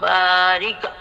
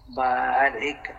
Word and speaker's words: বারিক: আলা মোহাম্মাদ ওয়ালা আলি মোহাম্মদ জাকিয়া আল্লাহুম্মা বারিক আলা মোহাম্মদ ওয়ালা আলি মোহাম্মাদি রাশিদা পারভন রাশিদা খাতুন আল্লাহুম্মা বারিক বারিক বারিক না বারিক আল্লাহুম্মা বারিক আলা মোহাম্মাদি মোহাম্মাদিলা